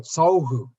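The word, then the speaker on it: सौः: If you want to spell it in English, S-A-U-H, Sauhu.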